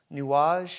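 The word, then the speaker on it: Nuages: It's so funny you say that, because literally when you said Django, there's a song, I think it's called Nuage.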